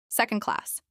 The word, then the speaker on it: second class: Second class. This is pronounced with stress on sec and class, SEC on class.